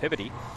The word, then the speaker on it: Peabody: then we moved to what the locals up here called pivoti uh it's spelled peabody for those of you that